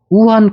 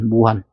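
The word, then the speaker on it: 武汉: 지금 이 한양이라는 데는 어디 있냐면 우한 코로나, 무한이라는데 발음은 우한이라고 합니다. 무한. 근데 발음을 우한이라 하는데 중국 발음으로 우한으로 하는데 거기에 한양이 있습니다.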